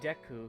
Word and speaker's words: Deku: I call it deu because that's how it's pronounced in Japanese.